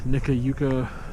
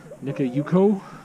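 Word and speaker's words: Nikka Yuko: okay slow down i'm going to mispronounce it nico japanese gardens nika yuko japanese gardens has a little light festival that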